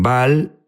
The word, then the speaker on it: Baal: Unos dicen Baal, Baal es la pronunciación correcta.